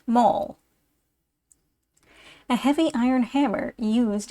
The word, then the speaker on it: Maul: Mast is a whole Spar Maul or Maul pronounced Maul a heavy iron Hammer used in driving bolts